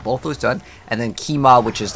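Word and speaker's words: Qiamah: And again, what we're looking for is Kima. It's spelled Q-I-A-M-A-H. Kima.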